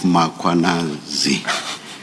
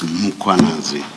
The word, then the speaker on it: Mkhwanazi: You repeatedly talk of Mkhwanazi. There is no A right at the beginning of that first syllable. The A is after the H, so it's Mkhwanazi, not Mkhwanazi.